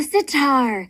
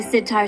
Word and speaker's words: sitar: looks like a guitar it sure rhymes with guitar doesn't it but it's most similar